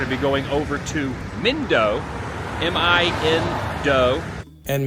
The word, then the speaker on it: Mindo: Myself and my group are going to be going over to Mindo, M-I-N-Do. And Mindo was his name.